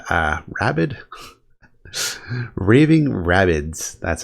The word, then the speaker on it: Raving Rabbids: I always find fun so I got uh rabbit uh rabid Raving Rabbids that's how you pronounce it uh another two dollar game uh